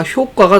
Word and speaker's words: 효과: 같은 약이라도 한자의 상태에 따라 효과가 다르다. 원래 효과는 틀린 발음이었습니다. 근데 얘가 이제 개정이 되면서 맞는 발음이 되었죠. 효과, 효과 모두 봤고요.